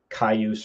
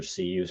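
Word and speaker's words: Cayuse: You have to get a cailluse or cuse, however you want to pronounce it, CAY use account through the university.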